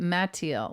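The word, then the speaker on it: Mathilde: Yeah, but I pronounce it Mattiel, like the name Matt.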